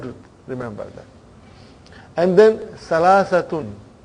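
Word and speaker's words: ثلاثة: And then Salasatun. But you will always hear the word Salasa.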